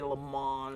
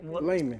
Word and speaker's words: Lamon: And they think to say Lamon. Or, Right, it sounds like Lamon. Yeah. But what exactly? I mean, it's pronounced Layman.